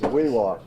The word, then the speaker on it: Weehawken: He helped rebuild the plant up there in Weehawken. And, well, that's hard to pronounce sometimes, but I guess everybody says Weewalk.